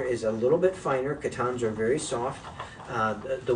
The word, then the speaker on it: Coton: a little bit finer katans are very soft uh the word Katan um which most people pronounce as cotton um actually means cotton